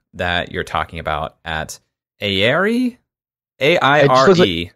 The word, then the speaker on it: Aire: And the other that did happen is this Ancient Baths trip that you're talking about at Aire? A-I-R-E. It looks like air with a silent E.